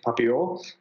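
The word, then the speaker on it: Papillon: A lot of people get the pronunciation of the name wrong. It's actually Papio or Butterfly.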